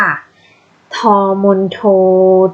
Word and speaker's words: ทองมณโฑ: นะ คะ ขา และ สำหรับ พอ มณโฑ นะ คะ เขา อ่าน ออก เสียง ว่า อะไร เด็ก รู้ ไหม คะ อ่ะ ถูก ต้อง แล้ว ค่ะ พอ มณโฑ นะ คะ เขา จะ อ่าน ออก เสียง ทอ ค่ะ ทองมณโฑ ททท เนื้อ หา